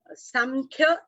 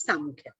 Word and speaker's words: Sankhya: Samkhya and Sankhya.